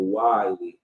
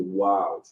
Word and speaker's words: wiles: In my example, wily, how some people pronounce it like that. The wily, but it's really the wiles, right?